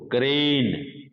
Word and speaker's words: crane: जैसे मैं एक वर्ड बोल रहा हूं बच्चों, क्रेन, CRANE, क्रेन।